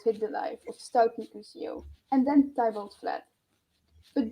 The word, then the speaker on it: Mercutio: Mercutio.